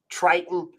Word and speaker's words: Triton: didn't but you know 26 it rhymes with greiten and they make bose feels um but a 26 lead time with them triton hose reels yeah but a 26